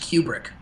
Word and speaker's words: Kubrick: Um, I read recently that it's pronounced Cubric. Best Cubric film. I'm annoyed by that pronunciation. Even if it's right. Go ahead. Even if it's right. His daughter says it's Cubric, so maybe you hate women.